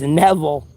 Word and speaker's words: Neville: It's not or Neville. It's Neville.